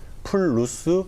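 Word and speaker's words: плюс: 러시아 식으로 발음을 해야 되기 때문에 플러스 마이너스를 플루스 미누스 이렇게 발음한 돼.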